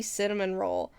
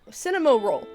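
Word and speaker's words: Cinnamoroll: But every time I'd see Kuromi, I would see Cinnamon Roll or oh gosh, Cinnamo Roll. There you go. Cinnamo Roll. Is that how I pronounce it? I don't know. I really thought this whole time it was Cinnamon Roll.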